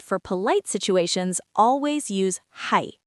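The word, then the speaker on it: はい: Hai, that's yes. Simple, right? Let me say it slowly. Ha, I, hai.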